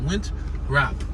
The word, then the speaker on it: Winthrop: No, it's Winthrop with a T, with an H. The H is silent. Winthrop.